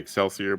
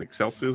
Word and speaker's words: excelsis: I always want to say excelsier but it's not. It's excelsis.